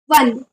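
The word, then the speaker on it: one: म्हणून त्याच्यासमोर ए लागणार वन वन च स्पेलिंग ओ पासून स्टार्ट होत असलं तरीसुद्धा त्याच्यासमोर ए लागणार कारण त्याचं प्रोनाउन्सिएशन व पासून स्टार्ट होत आहे आता अम्ब्रेला पाहूया अम्ब्रेला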